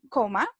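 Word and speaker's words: comma: Y yo le dije que se decía coma, igual que en español, ¿cierto? Con el acento gringo, como les comentaba, pero se escribe con double M, ¿cierto?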